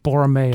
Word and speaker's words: Borromeo: Borromeo.